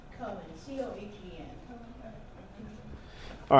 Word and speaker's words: Cohen: Cohen, C-O-H-E-N.